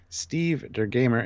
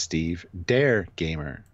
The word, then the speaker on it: Steve Der Gamer: Steve Der Gamer is pronounced Steve Dare Gamer. Dare is German for the.